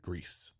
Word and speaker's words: Gris: take it away yeah which I also think we're mispronouncing I think it's supposed to just be gree but oh yeah because it's isn't the French word for grief is that what that is